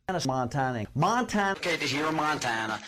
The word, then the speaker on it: Montana: not able to PR not able to pronounce Montana the way people from Montana say it Montana Montana okay to hear